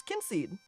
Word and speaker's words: Kynseed: also you can ask how to pronounce kinseed kin seed kin seed kin seed kin seed in case you were curious Kim seed but all